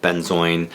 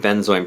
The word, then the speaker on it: benzoin: been joined orange 119 so I've heard benzoin pronounce benzo and been chuan or been join so this has been